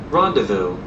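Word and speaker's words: rendezvous: okay well that's how how's it pronounced rondevo oh so it is Ron I don't know why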